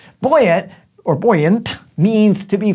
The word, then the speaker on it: buoyant: and then finally it's buoyant it's not girl aunt but it's her brother or boy yet no just kidding boy yet or buoyant means to